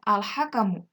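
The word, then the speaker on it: الحَكَمُ: Contohnya pada bacaan al-hakamu. Lamnya berharokat sukun menghadapi huruf ha sehingga lamnya harus dibaca jelas.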